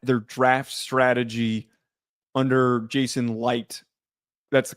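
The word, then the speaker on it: Licht: draft strategy under Jason Light, that's the correct pronunciation, right? It's not licked, it's light.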